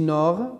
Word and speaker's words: nord: Donc, ici, nord. Donc, je vais entourer nord, c'est D. Donc, ça, c'est une lettre muette.